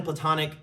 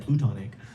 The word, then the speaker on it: platonic: is to find a platonic climbing partner. Did I say that right, Gavin? Platonic? And Gavin gave me shit earlier because I said plutonic. But also I said it wrong, so.